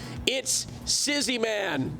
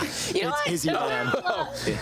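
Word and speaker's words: ItsIzzyMan: It's Izzy, man. It's Yeah, you butchered that. You know, sometimes when you have a name like it's Izzy, man, sometimes you share the S, right?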